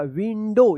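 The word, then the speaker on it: window: लेकिन यहां पे ओ नहीं होगा। यहां पे ओ डब्ल्यू का औ उच्चारण ना हो के ओ उच्चारण होगा। विंडो इसको याद रखिए आप।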